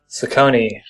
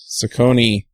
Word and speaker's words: Saccone: your last name Sam Saucony Saucony sounds like a gangster Italian gangster there you go that's